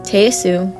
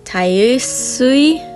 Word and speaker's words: Tayasui: I always try and pronounce it as Tayasu, but when you look it up on the internet, it says Tayasui.